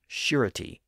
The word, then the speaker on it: surety: That pronunciation may have been influenced by the related words ensure and assure, which are based on the same root word and have that same sh sound in the second syllable.